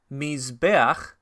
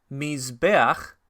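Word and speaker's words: מִזְבֵּחַ: Mizbeach es altar, tiene patach furtiva debajo de la het, que se pronuncia primero. Mizbeach.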